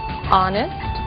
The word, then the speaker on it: honest: O som do H. Pronunciado desde a garganta, como em hotel, e mudo em 3 casos: hour, honest, honor.